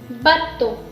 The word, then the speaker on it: bateau: It is B is B, A is A, T is T, EAU is again a sound, that is O. So it is bateau, bateau.